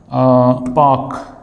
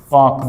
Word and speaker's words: park: So this word will be pronounced as park, park, the long R sound, park, park.